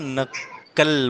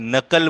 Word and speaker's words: नक्कल: एक मिनट, नक्कल बोलना है, जोड़ना है ना उसको, पहले वाला ये जो है अक्षर, उसको दूसरे वाले से जोड़ना है। तो ऐसे लगना चाहिए आपके तलफ्फुज से, आपके प्रोनाउंसिएशन से, कि वो एक दूसरे से जुड़े हुए हैं। नक्कल, है ना, क आधा और क पूरा, नक्कल। अगर नकल बोलेंगे तो एक ही क हुआ, लेकिन नक्कल बोलेंगे तो दो क आते हैं उसमें, है ना।